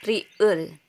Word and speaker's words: 리을: Ang name nito or pagbigkas is riul.